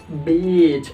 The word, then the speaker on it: beach: yang lainnya adalah kata yang saya sebutkan tadi beach beach beach beach hat terakhir nah kan ada